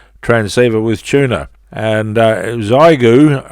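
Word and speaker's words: Xiegu: transceiver with tuna and zyu I presume is uh correct pronunciation or thereabouts it's spelled x-ray India Echo golf uniform I think pronounced as igu and it's an x610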